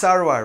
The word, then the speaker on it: Sarwar: And then my last name is actually Persian, right? It's actually pronounced Sarwar, right?